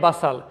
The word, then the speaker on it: bustle: ध्यान रखिए my dear students, these words are pronounced as हसल एंड बसल। टी is always silent in the spellings.